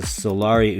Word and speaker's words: Solari: it's made in Italy the way the Italians pronounce it is this hello flip clock fans my name is and I'm a native Italian speaker this is how you pronounce the name of the O Grail of flip clocks in Italian solar so what I want